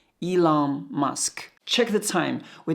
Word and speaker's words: Elon: Elon. Must, change T to K, it's Musk. So together it's Elon Musk.